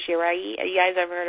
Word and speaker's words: Shirai: guys ever heard of I know a lot of people on internet pronounce it iOS shirai but it's actually iOS shiray have you guys ever